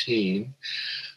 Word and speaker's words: Hihn: a man by the name of frederick augustus heane spelled h-i-h-n but pronounced teen who was uh quite the developer around santa